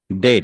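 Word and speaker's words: debt: ডেট, ডেট। কারণ be silent হয়ে যাবে।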